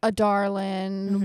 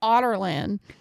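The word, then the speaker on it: Adarlan: and thrown a glass it's spelled a d a r l in mhm so I was like a darling whatever something like that apparently according to the audio books it's pronounced like otter land and I was like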